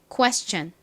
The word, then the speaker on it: Question: i o n이 오죠 그런데 s의 뒤에 이렇게 TI 쓰 면 이때 TI에는 어떻게 소리가 난다고요 천 이렇게 소리가 나죠 자 발음 해 보겠습니다 질문 Question Question 좋습니다 같이 써